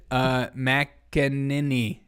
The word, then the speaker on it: McEnany: How do you pronounce it? McEnany.